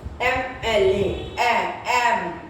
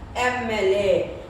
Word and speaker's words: MLA: Next, these all the abbreviations which start with the vowel sound. For example, MLA, MLA, and that is vowel sound.